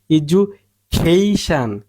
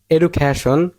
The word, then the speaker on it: education: বড় করে বলতে হবে এজুকেশন, এজুকেশন, এজুকেশন, এজুকেশন, এজুকেশন, এজুকেশন। সঠিক উচ্চারণ হচ্ছে এজুকেশন, খেইশান, খেইশান জুর, এ ই জু খেইশান, এজুকেশন, নট এডুকেশন, উচ্চারণ হবে ইজুকেশন, এডুকেশন, এডুকেশন।